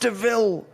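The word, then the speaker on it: De Vil: it's spelled devil but it's pronounced deville there goes my favorite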